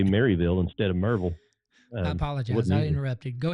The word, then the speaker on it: Maryville: It's called Neighborly Really Maryville? No, it's Merville. Merville.